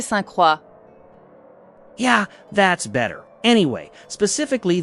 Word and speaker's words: Saint-Croix: It is pronounced Circuit de Saint-Croix.